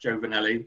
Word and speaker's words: Giovnilli: name on the screen it's pronounced joe vanelli but don't worry if